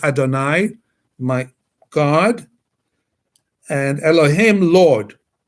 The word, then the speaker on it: Adonai: That's in Hebrew we pronounce that as Adonai, my God, and Elohim, Lord, created the Adam, Afar min ha'adama, dust from the earth.